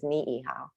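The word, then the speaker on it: Niʻihau: Ni'ihau is Ni'ihau.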